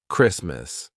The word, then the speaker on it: Christmas: So, for example, Christmas. The T is in between two consonants S and M. Christmas. We don't say Christmas. We say Merry Christmas. Christmas.